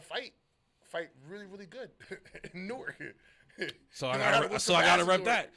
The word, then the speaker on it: Newark: And if you're from both places, you say them like they're all like Newark is one word, but there's a W there that we don't pronounce at all, and there's an A in there we don't pronounce.